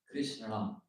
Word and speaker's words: Krishna: We will not be pronouncing Krishna. It's actually in Sanskrit. It's supposed to be Krishna. Imagine saying that every time you chant.